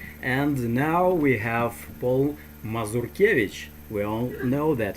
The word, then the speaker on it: Mazurkiewicz: now we have paul mazurkiewicz we all know that his last name is spelt so not mozarcus as americans say there you go that's